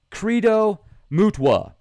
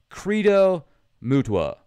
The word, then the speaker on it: Credo Mutwa: Credo Mutwa. That is his name. I've mispronounced it several times. I feel really bad about that. Credo Mutwa.